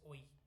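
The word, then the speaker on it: Ø: That's all that this constant functor on phi on sorry, not phi, the empty set should be pronounced as OE. Okay, it's a Danish letter, it's not a Greek letter.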